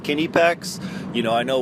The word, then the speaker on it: Knipex: a review for the night pecks pliers wrench now before I go on it is actually pronounced Kinney pecks you know I know we think K's are silent but uh which McCullough that's